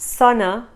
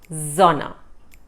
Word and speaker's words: Sonne: Or the sun is called Sonne. The Sonne. Not Sonne, Sonne. So remember, the S sound is Z.